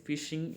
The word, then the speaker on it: phishing: computer Zone networks to perform other criminal activities fishing most important pronounced like the word phishing p is a